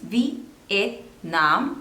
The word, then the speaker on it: Vietnam: There are 3 syllables. Vietnam. And the stress is on the third one.